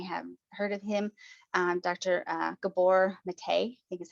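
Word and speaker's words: Gabor Maté: Gabor Mate, I think is how you say his last name, from Canada.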